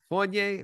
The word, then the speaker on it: Fournier: then surprise surprise surprise we have Evan Fournier Fournier right I'm saying that right right and now